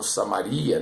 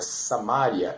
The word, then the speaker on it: Samária: a Judeia e samária muitos falam Samaria né mas a a pronúncia certa é samária e até aos confins